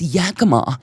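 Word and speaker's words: Yakima: Someone should have been like, "It's it's Yakama.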